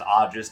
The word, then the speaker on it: Aegis: about like stalwart Defenders Aegis charge which could be pronounced AIS depending on whether you're using the old Greek pronunciation of the AE signifier um I really like